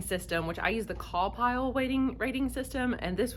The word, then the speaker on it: CAWPILE: that uses seven letters it's spelled call pile c-a-w-p-i-l-e and each letter stands